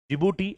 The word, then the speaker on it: Djibouti: The countries are Somalia, Ethiopia, Djibouti. Although the name starts with a D, D is silent here. Djibouti and Eritria.